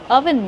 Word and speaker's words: oven: How do we pronounce oven mitt? Oven. Use a closed uh sound like up and cut. Uh uh oven. Oven.